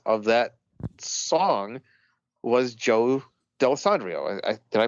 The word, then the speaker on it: Dallesandro: of the subjects of that song was Joe dalessandria did I pronounce his right name right yeah Joe D'Alessandro yep yes that was Little Joe The Hustler